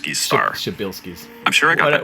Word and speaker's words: Przybylski: a bit of Polish I'm told that something close to the proper pronunciation for this star is shabil star shabil I'm sure I got